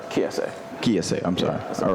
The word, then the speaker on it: Kiese: Am I pronouncing it correctly? Kiese.